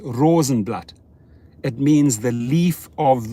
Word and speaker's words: Rosenblat: is is is german in german it's pronounced rosenblatt it means the leaf